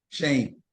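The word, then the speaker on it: Schoen: Shane.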